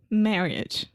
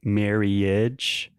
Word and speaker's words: marriage: Marriage. Okay, so I think you're saying marriage. So the I directly after the two R's, we don't really pronounce that.